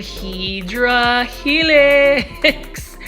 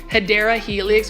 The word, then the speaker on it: Hedera helix: that I'm into saying Hydra Helix. So let me go ahead and stop. Now, Plant Foldies, let me know if you ever catch yourself saying Hedera Helix or the way I mispronounce it.